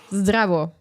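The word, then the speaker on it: Zdravo: Zrao. Yeah. Okay. Did I pronounce it well? Zavo.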